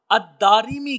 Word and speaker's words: الدارمی: آپ فرماتے ہیں بکسر الراء، یعنی الدارمی را کے کسرہ کے ساتھ ہے۔ اس سے معلوم ہوا کہ جو الدارمی کا لفظ ہے، اس کا جو تلفظ ہے وہ دال کے اوپر زبر، پھر الف، پھر را کے نیچے زیر، الداری، پھر میم اور پھر یا، الدارمی کے نام سے